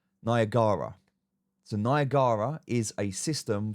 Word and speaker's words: Niagara: Some people call it Niagara. It's actually pronounce Niagara.